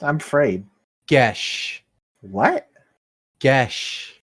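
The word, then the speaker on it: geis: How is it pronounced? I'm afraid. Gesh.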